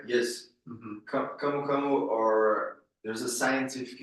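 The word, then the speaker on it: camu camu: in Brazil your native country which is called kamukamu am I pronouncing that right yes kamukamu or there's a scientific name for kamuk as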